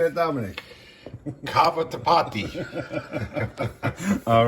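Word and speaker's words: cavatappi: Cava tapati.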